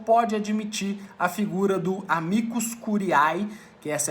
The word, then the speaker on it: amicus curiae: o ministro relator pode admitir a figura do amicus curiae, que essa é a pronúncia correta, como nós discutimos na última aula, do amicus curiae na tramitação da ADC, para que ele possa